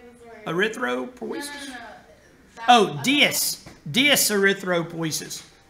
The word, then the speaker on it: dyserythropoiesis: Oh, dyserythropoiesis. Dys means abnormal. Anytime you see dys in front of something, that's a prefix that means abnormal.